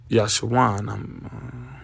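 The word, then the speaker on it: Jeshurun: Uh it's Jeson, but the Hebrew is pronounced Yashuan.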